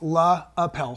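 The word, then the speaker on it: LePage: using the lapel stick you actually pronounced that wrong it's La Appel stick it's just a misprint on the label there yeah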